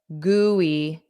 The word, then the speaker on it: gooey: So we have goo, ooh, and then just e. Goo, e. Goo, e. Ooh, e. Ooey, ooey, ooey. But then put a j. Gooey, gooey, gooey, gooey.